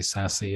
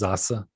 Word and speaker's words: Sasse: but it it's pronounced zasa it's a german name and it's s-a-s-s-e s-s's